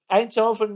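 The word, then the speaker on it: Eindhoven: it like that uh einthoven University of Technology which I just got corrected on because I thought it was Technical University einthoven but that's how you say it in Dutch not in English we have one of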